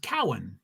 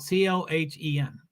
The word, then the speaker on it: Cohen: say your name wrong my last name is pronounced Cowan just like that Cohen is spelled c-o-h-e-n Cohen Cowan just FYI thanks Fred